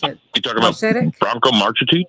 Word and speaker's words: Marcetic: You talking about Branko Marcetic? Marcetic.